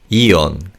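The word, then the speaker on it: 이혼: Now when we say this word in natural speed he in hon is barely audible. So it's eon.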